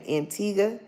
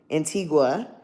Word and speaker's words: Antigua: Um, the tickets I I had looked even into going to an I always mispronounce the name. Antigga. Antigua in Barbuda.